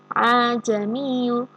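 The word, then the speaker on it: ءَاعْجَمِيٌّ: Nah, ini hamzah yang kedua ini tidak bisa dibaca jelas a, bukan seperti itu, tapi ajamiyu. Bukan suaranya hamzah juga, tapi bukan suaranya ha juga. Ajamiyu wa arabiyu.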